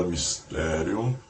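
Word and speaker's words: μυστήριον: A palavra mistério pronunciada mistério no original grego de um derivado deil significa fechar a boca.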